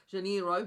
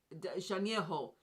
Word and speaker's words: Janeiro: The usual pronunciation is Janeiro, but that's not the correct pronunciation, I'm sure. Janeiro, or something like that. Anyway, because I know the R is a H sound.